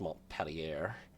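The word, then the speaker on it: Montpelier: tons 31 okay they are American they're definitely pronounced M pelier uh 7800 tons 31 knots 12 6in guns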